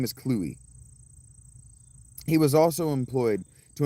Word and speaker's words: Clovis: You'll hear it pronounced Clovis, but Clovis, king of the Franks, is actually pronounced Cluey. His name is Cluey.